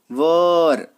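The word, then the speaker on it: were: चलिए अगर कहीं पे आपको वॉज या वर दिख जाए, देखिए ये वर, इसका प्रोनाउंसिएशन वेयर नहीं करते, है ना, वर, तो वॉज और वर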